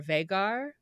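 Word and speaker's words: Vhagar: say this v h a g a r vagar vagar yeah vagar the dragon on the top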